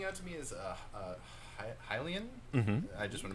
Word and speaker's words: Hylian: that's most standing out to me is uh Hylian mm-hmm I just want to make sure I'm pronouncing that no no that's right because you